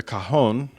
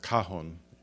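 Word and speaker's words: cajón: And that may be pronounced cajon, because there's no accent mark, and it ends in an N, so I think it's cajon.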